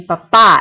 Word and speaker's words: papá: Actually, that should be mi papá es doctor. Papa means potato. Papá means dad, so there should be an accent on the A.